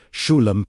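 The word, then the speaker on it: Shlem: Slowly, S H L E M pronounced "shoo-lum". Let the final sound, the M, vibrate at your lips.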